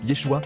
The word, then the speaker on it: Yeshua: ce temps était l'araméen, Jésus a été nommé par un prénom hébreu, qui était donc Yeshua, prononcé au quotidien avec la prononciation araméenne Yeshua.